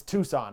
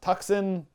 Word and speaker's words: Tucson: to say this i got this one it's tucson right tucson road runners tuxen tucson tucson the tucson road runners the tucson